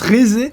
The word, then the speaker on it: Rézé: Ah, ça se prononce Rézé.